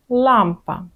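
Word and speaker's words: lampa: У польській мові інакша позиція і трошечки інакший звук. Язик посунути назад і впиратися він має в піднебіння. І тоді отримаємо звук ль.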